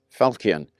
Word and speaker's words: falchion: A nasty piece of work, but yeah, I call it a falchion. I've heard it pronounced falchion. Well, I don't care. It's just a falchion to me.